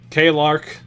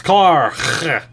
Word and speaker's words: Clark: K-Lark. Clark. Your name's not Clark. It's Clark. Hard C.